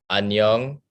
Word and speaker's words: 안녕: So if you can repeat after me, 안녕, Onion?